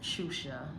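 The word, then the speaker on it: Xuxa: So, my first name is Shusha. It's spelled X U XA and my middle name is.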